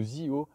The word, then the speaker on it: Zeeho: dire, mais en fait de ZEO, c'est-à-dire la marque électrique de CF Moto qui s'écrit ZEEHO, qui sort aujourd'hui deux scooters.